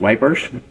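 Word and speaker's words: Ypres: now e is y p r s it's pronounced wipers e and all sorts of things but it's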